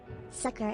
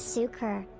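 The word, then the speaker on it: succor: red squiggly oh well sucker is pronounced as sukur with a stress on the first syllable it means Assistance or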